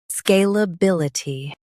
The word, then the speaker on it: Scalability: Emphasize bil and keep i ty light.